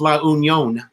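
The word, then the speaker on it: La Union: any own luckily own it's actually pronounced la unión um let's see I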